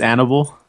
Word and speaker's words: Annabelle: it going everyone uh my name's annabelle you pronounce it like hannibal but without the h or you can call